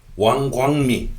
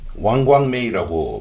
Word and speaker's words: 王光美: 왕광미 왕광메이 발음을 하죠 1921년에 태어나서 2006년에 죽었습니다